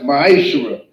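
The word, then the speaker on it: מעשר: You can find this in Numbers 18 verse 21 and Malachi chapter 3 verse 8 through 10, which means 10th in Hebrew and is pronounced ma'ashera.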